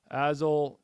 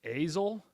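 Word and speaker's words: Azle: to skip trace it azil is with a long a sound it's ail man thank you thank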